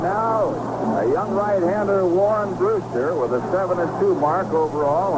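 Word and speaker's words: Brusstar: t a r but pronounces it as that were spelled phonetically Brewster and there's a good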